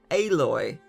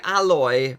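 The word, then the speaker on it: Aloy: not alloy reviewers come on the amount of times I've heard reviewers pronounce her name alloy the game says her name enough she's not a metal she's a physical tank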